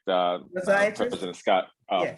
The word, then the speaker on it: physiatrist: You can pronounce it for me, Dr. Clay. Physiologist? Yes, that's correct. Physiatrist? President Scott, Yeah. Physiatrist, you got it.